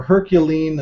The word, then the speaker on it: HercuLien: kind of talk about the her is it herculan how do you pronounce that yeah so it's uh a herculine is how I pronounce it you know I I you know